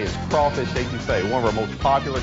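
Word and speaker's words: étouffée: Sometimes a person's first visit here can be a little challenging on Cajun pronunciation. I want some estouffee with crawdads. What Bubba's trying to say is crawfish etouffee, one of our most popular Cajun dishes.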